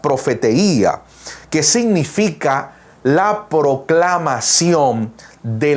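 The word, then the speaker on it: προφητεία: De hecho, la palabra profecía en griego se pronuncia profeteía, que significa la proclamación de la mente y el consejo de Dios.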